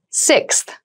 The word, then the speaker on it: sixth: Sixth. Sixth. Sixth. So sixth refers to the number six of something. This is a really good word to practice some pronunciation. Slow down that sixth, that middle part there.